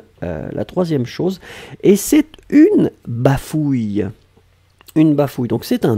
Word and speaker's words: bafouille: C'est ou, et après c'est y. Donc, bafouille.